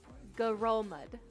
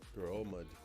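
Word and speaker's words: Ngerulmud: Pacific island nation this the end apparently according to Google is silent grillum garomed garomed where's trick now that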